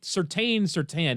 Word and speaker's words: Surtain: It's Surtain, dude. There's an I there.